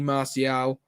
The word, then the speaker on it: Martial: it and then if you can get anthony martial back that's how you pronounce it thank you liverpool midfield will be